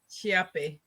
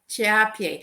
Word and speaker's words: Chiappe: It's pronounced Chiappe. Chiappe.